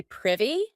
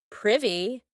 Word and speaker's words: privy: To be privy, and note that pronunciation, not privy, privy.